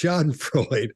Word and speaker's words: Schadenfreude: They said it's Schadenfreude.